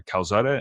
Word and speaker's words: Calzada: Calzada.